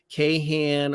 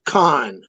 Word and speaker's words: Cahan: the spelling of the name and they say Cahan or they say Cahan before they say, what it is. I think the original pronunciation, I think, was Cahan, or like you said, Cahan.